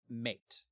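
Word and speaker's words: Maite: He convinces their head woman, I think her name is pronounced Mate. Say it again. Mate. Mate. It's spelled M-A-I-T-E.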